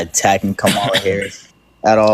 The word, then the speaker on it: Kamala: I'm not I'm not attacking Kamala Harris at all. That's not how you fucking pronounce her name. Kamala. I'm sorry, I didn't know you were her lackey.